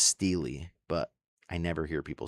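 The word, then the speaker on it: stele: I looked it up online and it said in English it was pronounced steely, but I never hear people say it like that.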